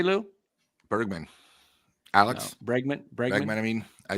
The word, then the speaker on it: Bregman: Alex Bergman, I think, is better. Bregman.